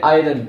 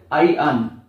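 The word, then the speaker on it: iron: ইংলিশটা ভুল করি প্রোনাউন্সিয়েশন আমরা বলি আইরন আইরন আইরন আইরন না এটা হচ্ছে আইন আই আর ও এন আইন আই আর ইংলিশটা হচ্ছে আইন নেক্সট ধুলো পাত্র ডাস্ট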